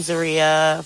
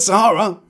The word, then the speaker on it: Zeruiah: But Sahara Sahara like the massive desert.